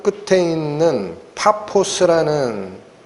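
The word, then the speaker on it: Πάφος: 있는 수도 껴 깁니다 여기 바보 라고 나오는데 원래 발음은 타 포스 입니다 파포스 바보 안양 그바보 아닙니다 파 포스 라는 도시로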